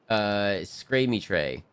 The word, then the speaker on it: Scramitre: My name is actually pronounced Scramitre. It's French.